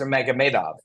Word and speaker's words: Nurmagomedov: Well, it is mostly said and mostly seemed to be agreed upon that it's Nurmagomedov. Nurmagomedov. Now, if you go into Dagestan and you hear his cousins say their last name, it may be pronounced, this may be the anglicized television pronunciation, but it's certainly not whatever you said.